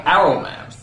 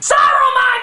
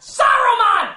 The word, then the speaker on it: Saruman: Saruman, you idiot! It's pronounced Saruman! The S isn't silent!